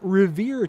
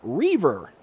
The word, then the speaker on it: Reaver: a uh heads up this isn't rever time I I as I thought it's Reaver Reaver time Reaver